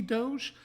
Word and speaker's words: Doge: I want to say I said do I'm really not positive that's how to pronounce it I think that's correct for Italian which is what the sword is inspired by so that's what I'm going to go with but it could also be Doge but I think it's